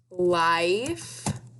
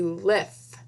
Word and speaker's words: life: Right, because of the silent E on the end. It makes I say its name. You hear I in life. If it was short I, it'd be lith, and that doesn't work because there's a silent E on the end.